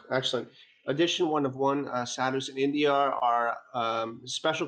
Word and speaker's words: sadhu: Sadhus, is that how you say it in India?